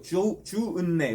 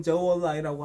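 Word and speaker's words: 周恩来: 대통령은 아니고 주은내, 우리나라 발음은 주은내라고 하고 중국식 발음은 저월라이라고 하는데 인도의 네루 총리랑 만납니다.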